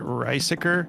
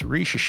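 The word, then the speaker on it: Risacher: for it in search, it's spelled like Riesiker is what I thought it was. And I'm glad I double checked because it's Richeche.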